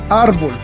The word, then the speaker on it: árbol: la penúltima sílaba ejemplo árbol art bolt tiene el acento en la sílaba art si tuviera el acento en la última sílaba en bold sonaría árbol que no existe entonces el acento está en la penúltima sílaba árbol otro ejemplo incertidumbre el